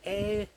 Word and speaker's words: Ayr: of September to the Ayr Air show. That's not me saying it wrong. There's a place called Ayr in Scotland and they're having an air show with planes.